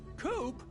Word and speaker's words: Coop: Coop? That rhymes with scoop.